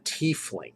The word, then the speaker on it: tiefling: I go tief. I'm of the I as an E in German, tiefling. And that's what the Germans would pronounce it. It's not tiefling.